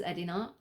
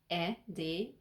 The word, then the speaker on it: Edina: My name is Edina, and how you spell it in English is Edina. But in Hungarian, Edina is Edina. So it's totally different. So in English, the E, that's a E in Hungarian.